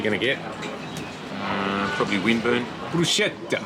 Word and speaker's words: bruschetta: Bruschetta. I say it like the Italiano, brusche.